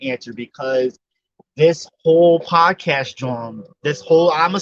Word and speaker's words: jawn: It's you can throw in thing and John. John is another word for thing. Rhymes Person, with place, yawn. or thing. Yes, yawn, John. John. Some people say jaunt.